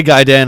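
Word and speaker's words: Gaiden: freaking giden ah yes you say gaen I say gayen I say gaen because pronouncing things correctly live in harmony wizard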